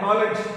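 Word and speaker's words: knowledge: नॉलेज, हाँ? के silent.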